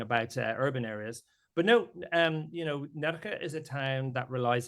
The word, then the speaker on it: Nerja: I'm going to butcher the pronunciation, so please enjoy correcting me. Nerja? I spend a lot of time in Nerja, exactly.